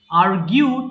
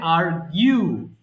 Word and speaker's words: argue: আর্গিউ তর্ক করা, এটাকে আমরা ভুল করে উচ্চারণ করে ফেলি আর্গু, বাট এটা হবে আর্গিউ।